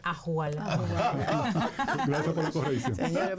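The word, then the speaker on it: ojalá: Ajolá, que esto sería para que pensemos un ching. No se dice ajolá, se dice ajualá.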